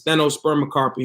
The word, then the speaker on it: stenospermocarpy: It's stenospermocarpy, and that's spelled STENO, okay, SPERM, like sperm, then that O again, and then CARPY. So stenospermocarpy and parthenocarpy, all Greek words.